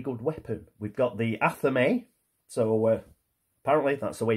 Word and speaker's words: athame: is a very good weapon we've got the athame so apparently that's the way you pronounce it we've got the athame that agnes has got so if we can